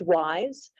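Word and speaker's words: WIIS: and Senior fellow at women in International Security pronounced wise our president and CEO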